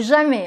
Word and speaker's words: jamais: C'est jamais, avec ET, jamais. Non, jamais. Et je l'entends tout le temps dans mes cours, cette erreur, donc vraiment attention à ça.